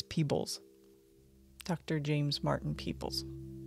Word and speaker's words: Peebles: lives ooh interesting now am I saying his name wrong is it peoples or peoples it's Peebles but when you say it like it's it ends up sounding like the plural of people but it's Peebles Dr James Martin peoples